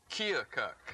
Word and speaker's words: Keokuk: now you're from Iowa and how do you pronounce the name of the town you're from Chuck chill cut Iowa no you didn't say it right kill cook Keokuk right are you getting closer Keokuk Iowa how